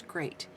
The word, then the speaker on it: great: I think didn't see here's beat and here's great even though they're spelled with the same EA sound this one says a and this one says e just point that out